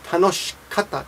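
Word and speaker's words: 楽しかった: Tanoshikata, tanoshikata.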